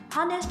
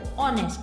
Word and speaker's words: honest: Even also the pronunciation will start from the second letter O, that is O, honest.